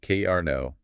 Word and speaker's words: Karna: We are looking at a central figure named Cara pronounced K Arno.